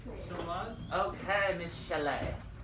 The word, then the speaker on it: chalet: Okay, Miss Chalet. Shayla. No, chalet. It's French. You gotta go chalet.